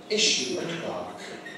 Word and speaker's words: issue clerk: How's that pronounced in American English? Issue clerk. Issue clerk. The stress point is the same. It goes on issue.